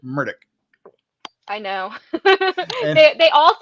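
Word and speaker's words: Murdaugh: you referring to how he himself pronounces it which is he pronounces it murdick I know they all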